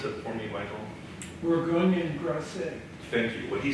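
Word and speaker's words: Bourgogne et Grasset: Can you pronounce that for me, Michael? Bourgogne Grasset.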